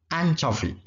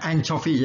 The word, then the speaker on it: anchovy: Anchovy. Nah, bacanya anchovy ya, bukan anchovy, bukannya anchovy.